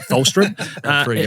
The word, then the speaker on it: Tholstrup: Tholstrup.